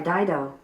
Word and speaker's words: Dido: White Flag was recorded by Dido. Dido.